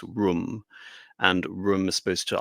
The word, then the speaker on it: Rome: Even though there's no agreed on etymology as to what Rome is, of course, Rome isn't pronounced Rome in terms of its origins. It's Rum, and Rum is supposed